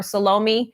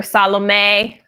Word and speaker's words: Salome: in the world some people will call her salami some people will call her Salome but it's we pronounce it Salome our son's name is Salim